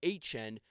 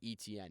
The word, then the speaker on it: Etienne: and he's like, yeah, my name's Etienne, but the way that it doesn't look that way when it's spelled, and he was kind of just like, yeah, I just told him, yeah, the broadcasters in college just say ETN.